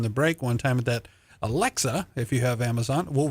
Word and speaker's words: Alexa: I said, Alexis is going to read my book. And they said, who? I said, no, Alexis. They go, Dad, it's Alexa.